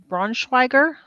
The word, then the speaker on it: Braunschweiger: I'm eating Braunschweiger. Is that how you pronounce it?